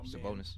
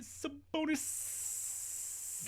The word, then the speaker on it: Sabonis: Like, they got stars, like of Darius Fox and Fox and Sabonis. My bad. No, you said it wrong. You said Sabonis. Gotta get the extra S in there, man.